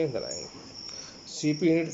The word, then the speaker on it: CPU: रहा है, यहाँ पे सीपीयू लगा हुआ है मदरबोर्ड के ऊपर। इसको हम central processing unit pronounce is separate letter सीपीयू, और उसको अलग अलग लेटर के साथ हमारे को प्रोनाउंस करना रहता है।